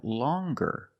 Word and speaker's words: longer: But then you have longer where we have the hard G sound longer with a nasal sound M plus the hard G.